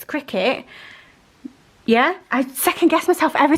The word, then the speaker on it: Cricut: it it's so bad i know that it's cricket but my brain reads it like cry cut because let's be real that is how you would phonetically say that cricot yeah i just